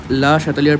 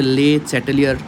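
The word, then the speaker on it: Le Chatelier: তো সেটা একবার দেখে নেওয়া যাক যে হোয়াট ইজ লা শাতেলিয়ার প্রিন্সিপাল, বা ইংরেজিতে এটাকে যদি মানে একদম আক্ষরিক উচ্চারণ করে তাহলে হচ্ছে লে চ্যাটেলিয়ার, বাট ওটা অ্যাকচুয়ালি কিন্তু উচ্চারণ হয় হচ্ছে লা শাতেলিয়ার প্রিন্সিপাল।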